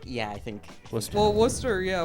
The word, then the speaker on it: Worcester: Well, Worcester. Yeah, Worcester. It's spelled Worcester spelled like Warchester.